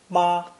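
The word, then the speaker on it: 妈: woman plus the horse as phonetic pronounce first tone ma this is obviously derived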